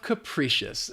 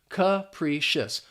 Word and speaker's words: capricious: That first syllable has the schwa sound, that h sound, and then the p r i is just pronounced as pre capriccious.